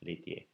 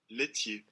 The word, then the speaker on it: laitier: So he's in charge of the section on milk products, laitier. Laitier. Laitier. I sometimes pronounce that laitier, but it's laitier.